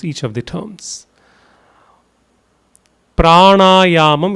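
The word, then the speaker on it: prāṇāyāma: Pranayyam. It's actually a combination of two words. It is prana and ayam. Both together would be pranaum. The n is with the dot below.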